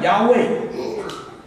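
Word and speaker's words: יהוה: 个子音，希伯来文里面没有母音的，发音叫亚卫，我们中文翻成耶和华。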